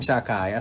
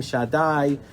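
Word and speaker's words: שדי: In Baltimore, we grew up, we say Shem Shakai. So the Rebbe says Shem Shaddai. The Sephardim say Shem Shaddai. There's something in TA. They taught us never to pronounce it. Everybody else said, all the other Shemos, but Shakai, they all say Shaddai.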